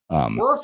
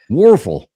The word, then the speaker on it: Wuerffel: Wuerffel. Yeah. Wuerffel. It's like a waffle, but I was going to say I like waffles.